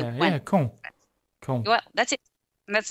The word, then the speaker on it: Caen: Caen. Caen. Caen. Oh man, I was way This off. one is very easy. It's like when you say when in French, you know how to say when. Yeah, Caen.